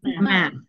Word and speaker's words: math: that m what Ma math okay math okay I don't know for some reason some of us mispronounce math yeah math math make sure that's a th and it's math and I don't know